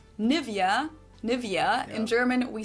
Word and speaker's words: Nivea: So, the emphasis is on the E. Nivea.